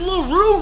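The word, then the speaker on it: LaRue: What does Laroo rhyme with? It rhymes with Doodoo.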